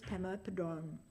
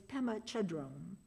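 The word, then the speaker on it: Pema Chödrön: You see, that year the commencement speaker was Pemma Padon of If you don't know her name, it's probably because I pronounced it incorrectly. It's Pemma Chadron.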